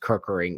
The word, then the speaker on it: Kirkering: I know his last name is pronounced Kirkering.